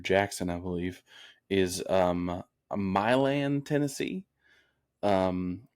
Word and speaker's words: Milan: my land Tennessee um which I used to always think was Milan Tennessee because I wanted to believe that people wanted to you know have some class and pronounce it in a nice way but then I've met multiple people are like no it's it's my land Tennessee I'm like why I